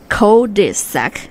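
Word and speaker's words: cul-de-sac: that's called a cesac cisac how how you spell it so c u l- d-s a c KAC that's so not English right right it's very strange yeah it is also from French it is a street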